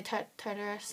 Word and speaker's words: Tartarus: fell off the cliff into the Terrace that's how I pronounce it some people say Tartarus I say tutors yeah but really come